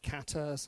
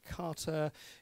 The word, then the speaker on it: kata: are various guides pronunciation some people say quatre say Carter it should probably be more the second but with a short